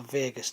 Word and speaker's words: vagus: a k name is called the vagus nerve not like las